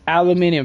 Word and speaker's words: aluminium: Aluminum. Yes, folks. Aluminium. believe it or not, uh, elsewhere around the world pronounces it as aluminium. This is especially so if you talk to people in the UK, aluminium.